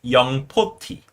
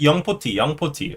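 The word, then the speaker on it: 영포티: 40 means young 40, but in Korean, you gotta pronounce it as young poti, because that's the Korean pronunciation. So the right way to say it is young poti, okay?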